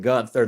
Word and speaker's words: Gunther: And then we had, I call him Gunther, they call him Gunther, but the name is spelt Gunther, and I just can't pronounce it any differently.